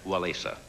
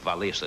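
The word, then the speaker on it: Wałęsa: Now topping the list was the Polish solidarity leader Lech Walesa. I think Valisa is the way they pronounce it.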